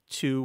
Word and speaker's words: two: certain vowel sounds sometimes that W sound collapses into the vowel it's just a mechanical